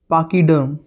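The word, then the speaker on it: pachyderm: इसका प्रोनाउंसिएशन होगा पाकीडर्म। This is पाकी सी एच वाई क का भी साउंड देता है। सी एच क का भी साउंड देता है। सो इट्स पाकी।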